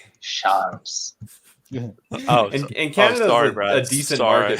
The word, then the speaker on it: Charles: It's a soft C. Charles.